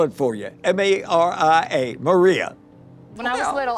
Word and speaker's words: Mariska: and the reporters said, "Um, well, how's little Marishka?" Jane says her name is Maria. I'll spell it for you. M A R I A.